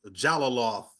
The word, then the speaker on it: Jalolov: and um badir J jalolov jalolov is I believe how you pronounced it yeah yeah both those